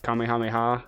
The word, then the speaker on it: Kamehameha: Kamehameha or whatever?